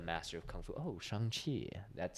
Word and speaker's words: Shang-Chi: so it's yeah c-h-a-n-g c-h-i and then it's pronounced shang-chi right but there's a whole scene in that